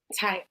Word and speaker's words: Tayari: Tyari? It rhymes with safari. Tayari.